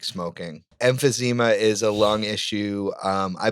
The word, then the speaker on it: emphysema: Emphysema. I've never heard that word in my life. What's that? It's a lung thing. Yeah, it's emphysema. Like it's a lung disease that you get from like smoking. Emphysema is a lung issue.